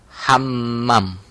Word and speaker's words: Hammam: Kalau ini ejaannya Hammam, double M tengahnya, Hammam. Kamar mandi.